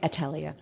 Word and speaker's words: Atelier: Have I pronounced that correctly? Pretty close. So the Atelier.